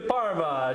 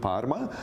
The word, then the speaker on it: Parma: Oh yes, Canadian brand ambassador for Prosciutto di Parma, Chef Roberto Fracchioni.